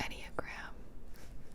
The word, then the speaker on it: Enneagram: E-N-N-E-A-G-R-A-M, I was right.